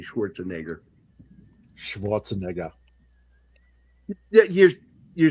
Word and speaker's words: Schwarzenegger: I told you 2 parts in his name: Schwarzen and Egger. Yeah. Egger, not Schwarzenegger. Yeah, you say Schwarzenegger.